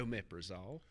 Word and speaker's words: omeprazole: Omeprazole.